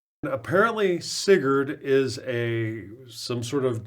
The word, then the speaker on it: Sigurd: had to figure out how the heck to pronounce the name it's sigured at least according to the pronunciation website sigured apparently sigurd is a some sort of Germanic mythology or